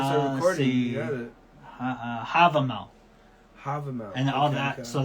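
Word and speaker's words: Hávamál: And I think it's called Malava. Let me see if I pronounced that correctly. I had it pulled up just I was gonna say right before we started recording. You got it. Havamal.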